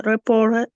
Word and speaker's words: reporter: Как будет тогда произношение? Reporter.